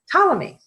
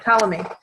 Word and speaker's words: Ptolemy: Ptolemy, the P is silent. Ptolemy, he was one of the first that tried to figure out the solar system, the planets and the stars.